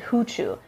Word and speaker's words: Fuchu: every 90 of f's they would pronounce with an h sound like i lived in fuchu f-u-c-h-u and everybody pronounced it huchu and even mount fuji